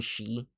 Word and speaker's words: Xi: It's supposed to say Gundam Shei. Technically, she uh some people pronounce it or whatever. I don't know. I pronounce it she because it's spelled XI.